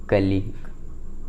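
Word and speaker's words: colleague: शब्द के अंत में आए हुए जी यू ई या फिर यू या फिर यू ई प्राय क्या होता है? आपका साइलेंट होता है, यानी यू साइलेंट होता है। ठीक है, जैसे कलीग, हम लोग ऑफिस में जो काम करते हैं उसके जो ऑफिस में जो साथ में काम करते हैं उसको कलीग करते हैं, या फिर साथ ही काम करने वाला।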